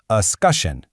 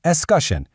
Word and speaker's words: escutcheon: It's pronounced escutcheon. Yeah, escutcheon.